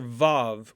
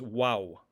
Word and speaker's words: vav: we have the letter vav which is also known as wow vav or wow now originally this letter had a w sound hence the name wow but in modern pronunciation